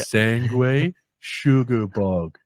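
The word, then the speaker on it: Sanguisugabogg: I'm pretty sure Scotty had this is how you say it, Jay. Sangway, say it with me. Yeah. Sangway Sugar Bog.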